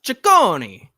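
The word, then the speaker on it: Cecconi: Sakonei, I think is how we pronounce his name. Did I nail that one, John? Unless you're Italian, then it's Chakonei.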